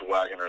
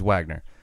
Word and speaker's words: Waggener: man it's no problem it's just pronounced wagoner though but okay my apologies wagner all right no worries